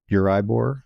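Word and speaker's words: Euribor: So the base rate in your market is Uribbor. Am I pronouncing it correctly?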